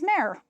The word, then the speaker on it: Maire: share of the stash, my name on Rivalry is Mare, just like the channel. Again, I didn't make it easy for you. People often think I'm mispronouncing or misspelling Marie. And considering I'm the one with the name, you'd think I'd be right.